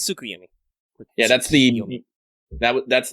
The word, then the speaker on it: Tsukuyomi: wrong i could be no it's tsukuyumi yeah that's the that